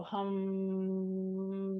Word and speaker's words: Ham: ether sound vibration the seed sound here is spelled like ham but sounds like hum so hum just like we did